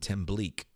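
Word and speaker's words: tembleque: MBLAQ a key right Tim Blake their poly pronounce it Tim Bleek Bleek Bleek oh this template is fabulous you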